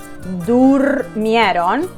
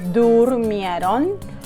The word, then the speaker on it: durmieron: So yo dormí, tú dormiste, durmieron. So if you want to pronounce it with me, durmieron. And nosotros dormimos y ellos durmieron. If you can look at my mouse, durmieron.